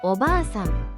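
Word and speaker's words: おばあさん: 오바상 할머니.이 이 단어는 오바상이라고 바 뒤에 알을 길게 느려서 두 박자처럼 발음합니다.이 경우 단어의 의미는 할머니가 됩니다.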